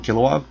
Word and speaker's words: Kilowog: out kilowog that's how you say his name kilowog kog but a lot of people are thinking